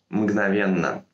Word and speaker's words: мгновенно: В слове «мгновенно» некоторые люди пишут и произносят дополнительную букву «Н». «Мгновенно». Делать этого ни в коем случае не стоит, потому что «мгновенно» образовано от слова «миг», у которого сбежала гласная.